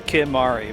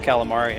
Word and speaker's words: Kimahri: Like I said, Kimahri's name is right there, Kimahri, but she just decided that his name was Calamari and called him that for the rest of the game.